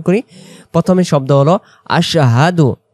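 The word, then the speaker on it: أشهد: শাহাদাতের ক্ষেত্রে আমরা পড়ব আশহাদু আল্লা ইলাহা ইল্লাল্লাহু আমার সাথে সাথে আশহাদু আল্লা ইলাহা ইল্লাল্লাহু আর যদি আশহাদু আশাদু আশাদু বলে তাহলে সিনে জবর হয়ে যাচ্ছে। তাহলে উচ্চারণ স্পষ্ট করে আশহাদু আল্লা ইলাহা ইল্লাল্লাহু আযান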